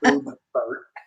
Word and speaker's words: Boebert: Boebert.